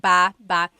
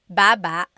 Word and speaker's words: baba: So depending on how you're saying it, it could be ba chin baba. Emphasis is on the first syllable. Baba. Then there's babba baba. Emphasis is on the second syllable syllable.